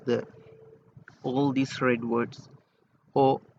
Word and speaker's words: ho: And EOO, this word HO or AKO is pronounced as O and not ho.